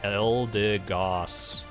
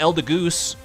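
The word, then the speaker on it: Eldegoss: have there my friend elder goss not elder goose oh no definitely no goose here giraffe rig always remember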